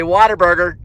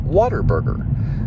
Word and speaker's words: Whataburger: hand side there and you'll notice i said water burger as in water as you drink because in texas we call it water burger but many people call it what a burger so it's either what a burger or whataburger burger check supplies here